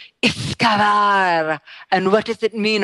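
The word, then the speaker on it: uisge beatha: Thank you for that primer on Iskavar.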